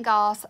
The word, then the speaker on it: Goss: not familiar with Wayne Goss you need to go watch him because he's great it's Wayne gos the way his name is spelled if you're not familiar